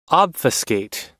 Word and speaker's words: obfuscate: Obfiscate.